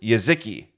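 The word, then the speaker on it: Jeżyki: jetski j-e-z-y-k-i dark cherry we looked up how to pronounce this before the show and it's yaziki right that's what you determined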